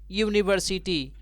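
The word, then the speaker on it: university: भले ही यहाँ पे जो स्टार्टिंग लेटर है वह एक भाउल लेटर है, लेकिन इसका जो उच्चारण है प्रोनाउंसिएशन वह कॉन्सोनेंट साउंड है, यानी यूनिवर्सिटी, यानी इसका पहला जो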